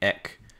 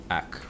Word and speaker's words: ek: time I read that, I read from an English standpoint, I read ek, so ak, okay. Say specifically where you're from, please leave a comment and I'll help you. Ak.